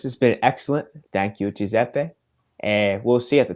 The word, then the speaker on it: Giuseppe: since I'm a kid, people had difficulties to pronounce my name, Giuseppe, because it's an Why? Italian name. So they didn't know. So some people, they called me Giuseppe. Some people called me Joseph or whatever.